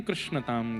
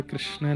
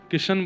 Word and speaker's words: कृष्ण: कृष्ण, इस शब्द का उच्चारण कई लोग शुद्ध नहीं करते, क्योंकि शुद्ध कर लेंगे तो फिर भगवत प्राप्ति हो जाएगी। इसलिए सब लोग इस नाम को, कोई किशन बोलता है, कोई कृष्ण बोलता है, कोई कुछ बोलता है,